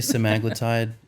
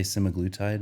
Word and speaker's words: semaglutide: semacletide specifically so people am I saying it wrong I say some agletide can and any other Medical Professional would say semiglutid okay I don't know